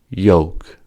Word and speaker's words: yoke: Yoke, yoke, yum. Beyond, kayak, canyon. L is silent in yoke, and yoke are homophones.